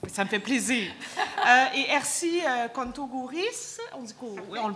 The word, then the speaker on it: Ersy Contogouris: Et Ersi Kontogouris, on le prononce.